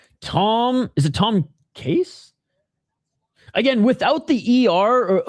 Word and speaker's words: Casse: I don't know if it's cas or or case perhaps again I read in French a is like e r e z o cas Tom Cass is how I would pronounce it in France.